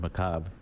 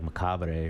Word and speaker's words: macabre: You know, it took me forever to figure out how to say the word macabre. I used to say like macabre or something, but it's macabre.